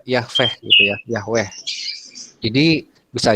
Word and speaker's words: Yahweh: Jadi ini bukan sirih tapi ini diganti dengan hamat, jadi dibaca Yah, gitu ya. Terus ini bukan dipakai kamat tetapi pakai sere, jadi dibaca Yahweh gitu ya, Yahweh.